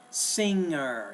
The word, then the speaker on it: singer: of the time when we had the n and the g together we pronounce it as a Ang sing singer sing there's really no G there listen to what you